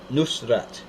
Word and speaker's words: Nusrat: won't use today and Aramaic pronounced Nusrat meaning the Victorious or of the town of Nazareth it's n-u-s-r-a-t Nusrat yeah he played a war